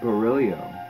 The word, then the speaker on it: Barillio: what else I had murillo it seems like I have some other things hey it's actually beryllium beryllium yes oh I said it wrong I'm so sorry Verrilli